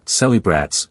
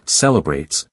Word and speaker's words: celebrates: In the word celebrates, you'll notice it's not celebrats, with equal syllables, but rather celebrates, where that middle vowel slips into the background and becomes softer. It's important to realize that